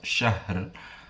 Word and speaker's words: syahr: Selanjutnya pada lafadz syahr terdapat bacaan ro tafkhim karena ada huruf ro yang diwakafkan dan didahului oleh huruf ha yang berharokat sukun, dan sebelumnya ada huruf shin yang berharokat fathah.